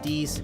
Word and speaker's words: Dees: Dees my name is either way Dees I know that it says dies on the channel sorry I know it says dies but it's pronounced beasts it's deep okay but with that I